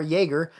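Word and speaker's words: Yeager: yeah I just y-e-a-g-e-r Jaeger um I figured it was pronounced about like Jagermeister but with uh that's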